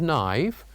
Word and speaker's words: knife: first first one was knife we say that the K is silent the uh letter K is silent and the second one